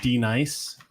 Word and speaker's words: Denise: It's pronounced D nice.